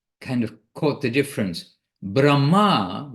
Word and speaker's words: Brahma: of caught the difference Brahma with a long a at the end is Lord Brahma four-headed Brahma who is the creator of the content of this universe Brahma but Brahma Brahma is the effulgence the energy of the